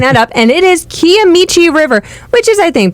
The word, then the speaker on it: Kiamichi: back after looking that up and it is kiamichi river which is I think pretty close to